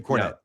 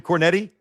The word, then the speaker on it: Cornette: Jim Cornette. Yeah. Were you gonna say Jim Cornetti? No, I knew how to pronounce the name.